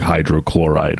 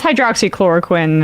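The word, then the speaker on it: hydroxychloroquine: was referring to also he just didn't know how to pronounce it when he said like hydrochloride or something I mean it's hydroxy chloroquin and to be fair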